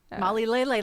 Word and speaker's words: MollyLele: Molly Lele, like ukulele. Yeah. Lylele is how that's spelled.